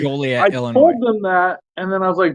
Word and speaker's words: Joliet: Joliet. Joliet, yeah.